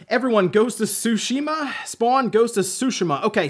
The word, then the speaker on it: Tsushima: of Tsushima and it turns out it is pronounced ghosts of Tsushima so I I guess I'm going with that